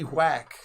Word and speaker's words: MC Whack: you so i'm m.c whack on all the things that's w-h-a-c-k quack w m-c you know the h is silent you know like like